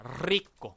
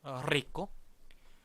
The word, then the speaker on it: rico: rico. rico라는 발음을 할 때 우리가 앞에다가 D 발음을 넣는 거예요. 자, 굴리지 못하더라도 D 발음을 넣어서 이렇게 발음 한번 해볼게요. drico. 다 같이 drico, drico, drico.